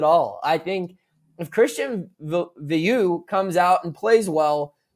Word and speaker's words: Veilleux: Is Veilleux? Veilleux. Yeah, Veilleux.